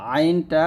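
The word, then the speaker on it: ع: করে সা তারপর হচ্ছে আইনটা গলার মাঝখান থেকে চাপ দিয়ে বলবেন আইন কফটা মোটা করে বলতে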